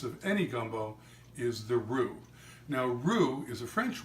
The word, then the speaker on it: roux: So the basis of any gumbo is the roux. Now, roux is a French word, and it's spelled R-O-U-X.